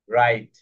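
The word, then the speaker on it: write: Double you এর পরে যদি আর থাকে, তাহলে ডাবল ইউ সাইলেন্ট হয়ে যায়। যেমন রাইট, রং।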